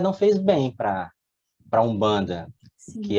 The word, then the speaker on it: Umbanda: É isso, Umbanda. isso, é uma pronúncia nasalizada, Umbanda, né?